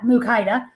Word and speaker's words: Mukaida: First of all, you say it like that, Mukaida.